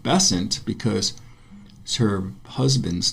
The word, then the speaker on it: Besant: about Annie Besant, somebody told me that she pronounced her name Besant because her husband's name was Besant.